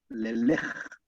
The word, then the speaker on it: Leleque: esta es la de Leleque o Lelej, como se pronunciaba en lengua tehuelche auniquén.